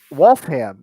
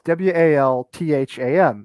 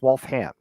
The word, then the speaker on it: Waltham: have like um uh wolfham is one of my favorites so it's w-a-l-t-h-a-m so you'd think it'd be waltham but it's wolf ham you pronounce the ham at the end wolfham so our country's just